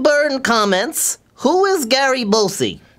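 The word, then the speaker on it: Busey: Greg Burn comments, "Who is Gary Bosie?" It's pronounced beauty, Mr.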